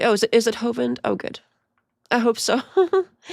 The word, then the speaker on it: Hovind: But yes, you're pronouncing his last name correctly. Oh, is it is it Hovind? Oh, good. I hope so. Hind. Hovind.